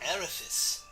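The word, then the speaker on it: Avarice: well it's funny that it's pronounced erephys but it's spelt a-v-a-r-i-c-e i think somebody a world war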